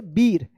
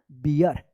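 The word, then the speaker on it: beer: जैसे आप इसको पढ़ेंगे बीर, ये गलत हो जाएगा, इसको पढ़ा जाएगा बियर, ठीक है।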